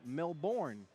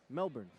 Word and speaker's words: Melbourne: I know y'all used to Americans saying Melbourne. Yeah, but I got some Australian help. Melbourne.